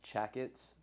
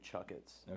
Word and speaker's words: Chakits: TS well when you read it it's basically pronounced Chets but when you pronounce it it's really chuck itss with a u so all right but um